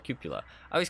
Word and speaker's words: cupola: cupula I always call it a Coppola because it just sounds I don't know better but it's called a cupula it's kind of weird um because I watched a video and that's how they pronounced it and I was